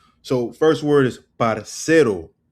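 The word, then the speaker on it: parcero: So, first word is parero, right? You you can see my uh pronunciation right here. The emphasis is on the s parero parero right not parero not parero it's parero all right or par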